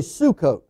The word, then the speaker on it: Sukkot: now that's called pronounced suck-off but the way it's spelled in the old english but it's really sukkot and abu and about 600 000 on foot